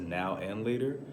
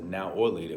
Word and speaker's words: Now and Later: The wrapper says now and later. I was looking at it as a now or later. We would mispronounce it now laters. We're like, yo, we eating some now laters.